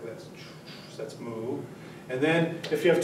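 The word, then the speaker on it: 木: right so you have the Chinese character for for tree which is pronounced moo and I should I'm not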